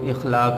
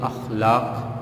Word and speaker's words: اخلاق: اخلاق عمومی طور پہ لوگ اس کو اخلاق الف کے نیچے زیر کے ساتھ پڑھتے ہیں، لیکن اس کا جو صحیح تلفظ ہے وہ الف پہ زبر کے ساتھ یعنی اخلاق پڑھا جاتا ہے۔ اخلاق پڑھنا مناسب اور صحیح نہیں۔ اس سبق کے مصنف